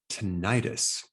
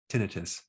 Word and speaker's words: tinnitus: take on how to stop tinnitus or you can pronounce it tinnitus now this technique was